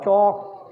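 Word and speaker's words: chalk: इस तरह से बी ए डबल एल होता है बॉल, और टी A double L toll, और सी एच ए एल के जो होगा चौक, इसमें एल साइलेंट है।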